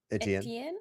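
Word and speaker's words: Étienne: Uh, and a tea a tea How do you say it? Etienne. Etienne. Etienne turns around.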